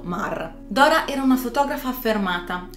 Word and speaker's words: Maar: Il suo cognome si dovrebbe pronunciare semplicemente Ma, però siccome non sono sicura e si scrive Maar, io lo pronuncerò così, come è scritto, Maar.